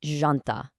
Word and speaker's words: janta: Now, the absolutely crucial point here is that starting J sound. It is definitely not a hard jumping J like you'd hear in the English word jump. It's incredibly soft. Actually, think of it much more like the S sound right in the middle of the English word measure.